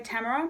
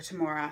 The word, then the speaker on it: Tamora: I'll say straight up I'm trying to remember to say Tamara because that is how apparently she likes to pronounce her name but for my entire life pretty much since I was 11 I've called her tomorrow so I'm a slip-up